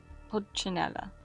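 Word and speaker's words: Pulcinella: Pinella.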